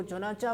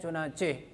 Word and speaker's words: چنانچہ: تھا۔ چنانچہ بھائی بچوں، اس کو چنانچہ پڑھا جاتا ہے جو غلط ہے، اس کا تلفظ ہے چنانچہ۔ جب وہ اپنی عادت